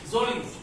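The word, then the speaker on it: Mjölis: Zolies. M is silent.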